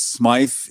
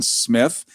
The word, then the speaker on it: Smythe: Yes, it's spelled with a Y, which can be Smith or Smythe. In England, it's Smythe. In America, it's often Smith.